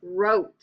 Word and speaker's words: wrote: in front of it wrote I wrote a letter to my friend sneaky W wreck I wrecked my